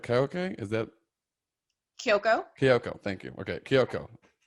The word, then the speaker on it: Kyoko: And then, am I pronouncing this right? Kyoko? Is that? Kyoko.